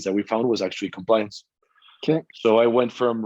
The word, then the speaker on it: Complawiance: so it's called compliant like it's spelled it's pronounced compliance um i can the only thing i can